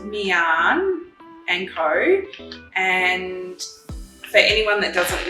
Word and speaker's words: Miann and Co: so it's pronounced mian and ko and for anyone that doesn't know we were